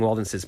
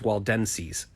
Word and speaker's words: Waldenses: And even when I looked up, I still pronounced it wrong. Waldenses. I was saying Waldenses, but it's Waldenses, if you're Christian.